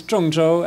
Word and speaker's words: Zhongzhou: this is a quiz item for my students, which is called, this is pronounced as Zhongzhou.